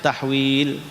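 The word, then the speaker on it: تحويل: Jadi kalau ada hak begitu kamu bacanya tahwil, ya.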